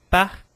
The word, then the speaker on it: parc: Então, com palavras com C, algumas palavras que são finalizadas com C, eu também pronuncio parc, donc.